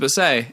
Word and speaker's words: Bessey: But they still pronounce it Bessey. And then they moved to America, and people were like, how are they going to know it's Bessey?